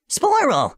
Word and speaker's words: Sporill: Sporill: Sporill – (pronounced Spore-ull) Selana: Hi there.